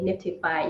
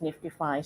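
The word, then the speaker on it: NFTify: call nft right this the spelling is nft i f y uh but then you know we say Nifty five even though I know that there's some other projects that you know maybe uh pronunciated but very similarly but you know um usually say it as Nifty five so that's really interesting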